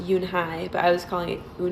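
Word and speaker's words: Unhei: and i was pronouncing it wrong um it's pronounced yoon hai but i was calling it and it just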